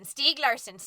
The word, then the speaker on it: Stieg Larsson: over and over again Steve Larssen Stieg Larsson's Stieg Larsson's Stieg Larsson's Stieg Larsson's Stieg Larsson's deke and that is how we found out the correct pronunciation of Stieg Larsson a problem nobody would